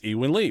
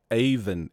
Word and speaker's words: Eivind: did on our show and I said it's evenly well apparently he went Lee is not the way you pronounce his name so I would like to